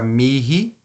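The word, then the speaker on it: mihi: só fala o h pronunciamos o H em duas palavras apenas na palavra Miri que é para mim e Nil que significa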